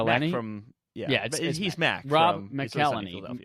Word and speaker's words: McElhenney: from yeah he's mad Rob McElhenney Rob McGee Lanie Rob I think it's Mick Eleni Rob Nicolini apparently Ubisoft is producing their